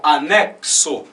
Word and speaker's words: anexo: Então, na primeira, ela tem um som duplo, o som de KS, né, que é o XI. Então, anexo.